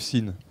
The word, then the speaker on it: SIN: SIN, c'est la première syllabe du mot sinusoïde.